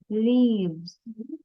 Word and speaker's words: leaves: let me say it leaves so very very small the silent letter for this one is letter e so when we write